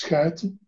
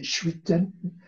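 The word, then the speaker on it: Schuiten: In Dutch, since it's a Dutch name, we pronounce Skuiten. Actually, it means embarkments. Ships, if you want. The French say chuiten.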